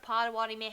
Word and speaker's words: Pottawatomie: Pottawatomie.